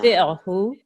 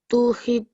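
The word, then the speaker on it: تطعه: So, kalla la Kalla tuti'hu. Just listen to me once first. Kalla la tuti'hu wasjud waqtarib. Off you go. kalla la tuhid.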